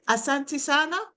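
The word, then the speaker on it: Asante sana: David Asantisana is it okay?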